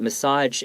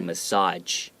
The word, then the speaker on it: massage: talk about it but massage in this case the g kind of has like a j sound a massage like that so pay attention to